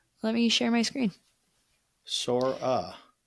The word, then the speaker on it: Sora: Sora. How do you spell that? S O R A. Kind of like I got a sore ass.